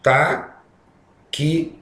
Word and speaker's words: táxi: Na palavra táxi, se vocês observarem bem, essa pronúncia aqui é a seguinte: ta-qui-si. Nós temos 4 letras e 5 fonemas.